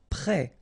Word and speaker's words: prêt: Prêt, final T not pronounced, accent circonflexe like that phonetically gives you the E sound, prêt.